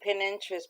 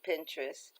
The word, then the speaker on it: Pinterest: decorative paper from Pinterest I say pin interest but it's actually Pinterest I can print out